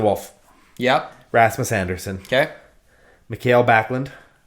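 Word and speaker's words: Mikael Backlund: He's Swedish, so I just assume it's pronounced differently. I've only ever heard it said Michael Backlund, but anyway.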